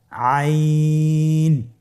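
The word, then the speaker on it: عين: আইন হরফটি উচ্চারণের সময় অবশ্যই তিন আলিফ টেনে পড়তে হবে। এখন আইন হরফটি বারিক হরফ। পাতলা করে পড়তে হবে। আপনারা আমার সাথে বলুন আইন।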